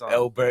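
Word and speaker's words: Åberg: We've been pronouncing his name for so it's Elbert.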